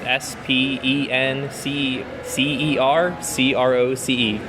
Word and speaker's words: Croce: en si si er CRO see my last name is just like Jim Croce though I don't know